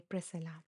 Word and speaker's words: Priscilla: Okay, the C is silent. Okay, Priscilla.